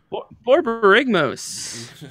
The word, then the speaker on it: Borborygmos: Borborygmos.